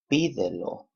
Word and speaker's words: pídelo: Pídelo, accent on the third to the last syllable.